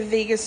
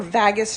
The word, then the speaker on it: vagus: way we can activ the Vegas nerve or vagus nerve depending upon how you pronounce it is really simple and